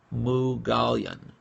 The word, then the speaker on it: Moughalian: Her Twitter handle is Sato, and I'm going to try to get, let me get the pronunciation right. Sato Mughalian. So Sato Mughalian, it's spelled Sato Moughalian, an Armenian name.